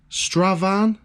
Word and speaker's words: Strathaven: Is that how you say it? Stravan. Don't say the T, because that says Strathaven.